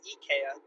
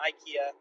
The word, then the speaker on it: IKEA: Um, my name is and uh, the Swedish pronunciation for IKEA is actually EA, not IKEA.